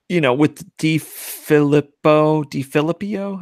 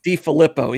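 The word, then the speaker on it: DeFilippo: I think Minnesota is expanding the run game a little bit more, obviously, since with DiFilippio. I always forget how to pronounce his name. DiFilippo.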